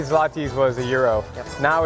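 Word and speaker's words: złoty: This is Polish zloty.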